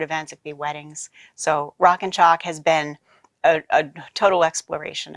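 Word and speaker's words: Rockin Chalk: all that yeah sure rock and chalk and now I have to spell it because it sounds like a shock but it's like a chalk board rockin ro ckin ch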